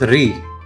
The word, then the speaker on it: リ: The next character is ri.